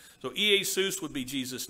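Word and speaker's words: Ἰησοῦς: greek word for jesus the name jesus ea seuss is how you would pronounce his name in greek if i understand the greek correct correctly so ea seuss would be jesus name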